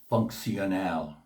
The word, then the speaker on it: funcional: Digital, digital on Spanish, and functional, funcional. The T in functional is SH pronunciation in English, where it is an S in Spanish.